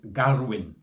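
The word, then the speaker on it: Gaerwen: uh and it's in a place called Garwin that's how you pronounce it uh so I've kind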